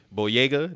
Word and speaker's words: Boyega: Boyega.